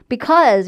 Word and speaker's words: because: because 이게 어 발음도 아닌 오 발음도 아닌 중간 발음이에요. 뭐 law school 할 때처럼 입은 아로 벌리되 소리는 어로 내야 되는.